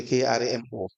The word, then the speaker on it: Karamo: It's spelled as Karama. It should be Kramo, correct? Yes.